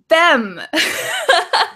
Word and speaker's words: bem: in your language so when we look at the word b m in Portuguese Vanessa how would you pronounce that b m bem bem so if we look at your position of your mouth right you go bem because in English M we close our mouth M How would however